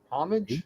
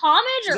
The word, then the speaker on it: homage: a lot yes yeah it's like herbs you don't pronounce the h it's I have a